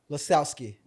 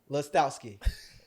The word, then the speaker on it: Lostowski: Lebowski? Lostoski. Lostowski. Did I say it right? Yeah.